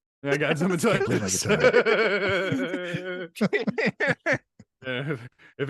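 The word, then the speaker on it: Zemaitis: Did you say zematitis? Is that how you say it? Zemitis? It's not an infection, dude. I know it Zemitis. sounds like an infection.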